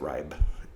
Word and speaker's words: Reib: uh just search for reeb that's r-e-i-b i know i pronounce it wrong if you're german but that's how we pronounce it here i'm sorry um and